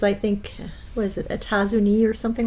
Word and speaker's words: États-Unis: États-Unis. États-Unis. There's extra letters at the end there, but they always drop the pronunciation of the letters near the end of the word. You don't see the S there.